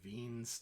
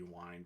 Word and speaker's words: Wien: this is given by ven's displacement law yeah I know you think it you'd be wine but the it's German and the way you would pronounce as V where this is a v sound and and the the